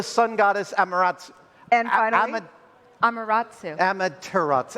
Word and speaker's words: Amaterasu: And finally, Amaterasu. Amaterasu. I missed a Whoops.